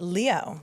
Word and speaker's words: Liot: But it's pronounced it's pronounced Leo, like Leo the lion.